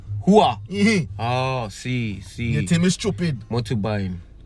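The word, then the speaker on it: rua: but they pronounce it, it's R-U-A, and it's Hua. Hua.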